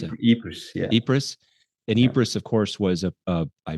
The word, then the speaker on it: Ypres: How do you pronounce it? Ypres, yeah.